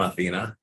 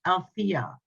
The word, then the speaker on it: Althea: you so much but my name is pronounced Althea Althea I'm sorry but you